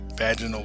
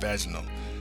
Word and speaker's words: vaginal: and damage to the vaginal wall. Notice I said vaginal. Steph always says I say vaginal. I like the sound of vaginal, but I'll say it right for y'all.